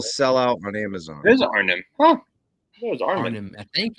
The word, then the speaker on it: Arnim: I love this Armandola. It is straight up Kirby. It's freaking. How'd you pronounce it again? What'd you say? Arnim Zola. Arnim. Armandola. Not Armin. Arnim.